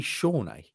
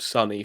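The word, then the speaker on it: Sone: no no he's actually his name is actually shawnee i think that might be your name yeah that's the correct pronunciation i think really i think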